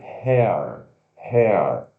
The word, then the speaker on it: hair: short, Cabelo se escreve H-A-I-R, mas se pronuncia H, o som de E-A-R, hair, hair.